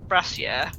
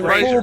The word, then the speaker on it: brazier: Also, it'd be quite good if we could stop pronouncing a brazier as brassiere. That would also be quite good. No, it wouldn't. So brazier- the 4 braziers.